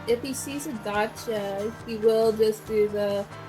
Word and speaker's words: Dacia: Seems I've been saying Dacia all wrong. It's apparently pronounced daca.